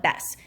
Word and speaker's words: Bes: They just call it Bess. So when we get to that B flat, we're going to call it Bess instead of B.